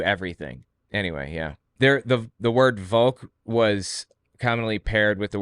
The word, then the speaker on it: Volk: And the word for like people is Volk in German. I think it's pronounced like folk, F-O-L-K, but it's spelled V-O-L-K.